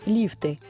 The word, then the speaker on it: лифты: Похожие слова, в которых часто делают ошибки, это шарфы, банты, порты, лифты. В них также во всех формах ударение всегда ставится на первый слог.